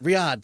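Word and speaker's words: Riyadh: Riad. Thank you. I couldn't remember how to pronounce the name.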